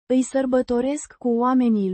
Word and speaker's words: oamenii: A noun meaning the people, pronounced Oamenii. with the stress on the second syllable.